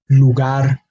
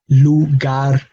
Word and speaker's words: lugar: el lugar profesor mujer this column has words with an emphasis on the last syllable but because they end on a consonant other than N or s they are expected to have the emphasis on that last syllable so we do not